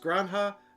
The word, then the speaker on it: Granja: in spain excellent nice it's pronounced granha and it is farm